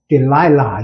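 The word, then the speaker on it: Delilah: 우리말로는 데릴라고 리를 전하는데, 그건 R 발음은 안 되고, 델릴라인데, 영어 발음은 델라일라, 유명한, I saw the light on the light that passed by your window.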